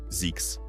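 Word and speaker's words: Zzyzx: Donc, il a concocté le nom Zisks, prononcé Z. Yes, Zix.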